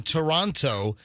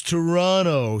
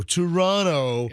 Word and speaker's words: Toronto: that time for saying toronto and i was told you don't pronounce the second t it's it's toronto toronto yeah you have to